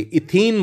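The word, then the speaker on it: ethene: रहा हूं आपके लिए, इथीन बोलते हैं इसको, we call it इथीन। Spelling देख लीजिएगा, पिछला जो था वो इथेन था, ये इथीन है।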